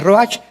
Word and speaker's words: ruach: Ruach se pronuncia ruach.